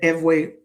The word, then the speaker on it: Ewe: The Eway or Fawn language, Ew, pronounced Eway, Fawn, Fo N.